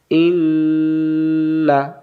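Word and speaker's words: إِنَّا: হামজাজের ই, ই মিলবে নুনের সাথে, ইন, নুন জবর না, ইন না। আর এটা হুন না, এটা ইন না। সূরা কাউসারে আছে না, ইন্না শানিআকা হুয়াল আবতার, ইন্না, ধরে থাকতে হবে।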